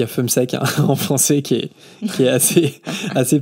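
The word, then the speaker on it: Fumseck: Si on prononce en bon français, c'est Fume sec.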